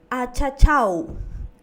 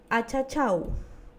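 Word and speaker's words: achachaw: Achachau. Achachau. Esta también termina en una consonante W. Y a la pronunciación va a determinar como la letra U.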